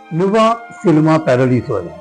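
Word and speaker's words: Nuovo Cinema Paradiso: ഒരു മനോഹരമായ ചലച്ചിത്ര കാവികാ ഈ സിനിമയുടെ പേര് ലുവ സിനിമ പാരലീസോ ലുവ സിനിമ പാരലീസോ എന്നാണ് ശരിയായ ഉച്ചാരണം ഇതൊരു ഇറ്റാലിയൻ സിനിമയാണ് ഫ്ലാഷ്ബാക്കിലൂടെ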